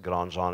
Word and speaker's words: Grandjean: Hi, I'm Grandjean, although that is French. You can pronounce it Grandjean if you like, but I don't.